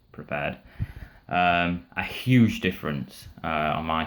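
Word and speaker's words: Prepar3D: X Standard Edition to Prepared or Prepare 3D, whichever way you want to call it, but it's actually pronounced Prepared.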